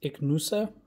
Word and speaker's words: Ichnusa: a beer i'm not really sure how to pronounce that but it's ignosa i see h n u s a and